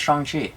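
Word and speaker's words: Shang-Chi: we're going to see chongchi if you didn't know it's pronounced strong chi yeah are you wearing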